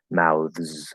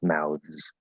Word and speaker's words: mouths: don't have to memorize but the first word mouths okay so fully pronounced it's a voice th with a z sound um and that's because the th's voice it's s into a z mouths mouths paths you can also say paths right so